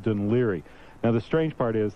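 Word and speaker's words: Dún Laoghaire: is where Boomtown Rats are from but it's pronounced d liri now the strange part is that of course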